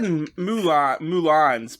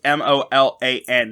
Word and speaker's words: Molan: And you said Mulans, but I just wanted to spell it. It's Molan, not Mulan as like the movie Mulan.